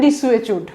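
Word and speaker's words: desuetude: Meaning দেখেন ডিসুয়েচিউড, ডিসুয়েচিউড উচ্চারণটা ডিসুয়েচিউড equal to ইনঅ্যাক্টিভনেস।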